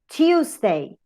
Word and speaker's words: Tuesday: Here, to pronounce Tuesday, you use the ya and u, Tuesday. In some occasions, you can have a long u, Tuesday, and in some accents, you have only the short u, you, Tuesday, okay?